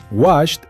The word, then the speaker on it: washed: Y nos topamos con dos verbos regulares en pasado simple, washed y touched. Toqué. Ambos terminan con el sonido de una té seca y explosiva. Washed y touched.